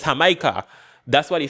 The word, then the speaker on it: Jamaica: mentions like he mentions Jamaica and he doesn't say Jamaica, he says Hamaha.